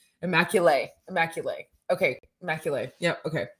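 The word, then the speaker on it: Immaculée: immaculate is that how we say her name immaculae immaculae okay immaculae yeah okay immaculate and she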